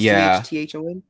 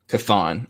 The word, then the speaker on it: Chthon: Is it spelled CHTHON? Chthon. Yeah. Chthon.